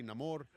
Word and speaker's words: Namor: Some characters call me Neymar, some say Namore.